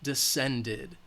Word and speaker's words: descended: watched as the Sun descended again the D is the final sound so it's going to have the it at the end descended all right we